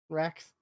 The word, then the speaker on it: Rakks: one of the creatures is called a rack, RAKKS, Racks. It's an innuendo for boobs. Yeah, I mean, no, it's spelled Rax and then Rax as in the creature.